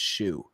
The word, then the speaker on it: Shou: has it also co-stars robin shoe i believe is how you pronounce it it's either it's s-h-o-u i think it's shu okay he is the